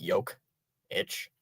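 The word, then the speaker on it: Jokić: It does sound like how the way you said it like yoke itch.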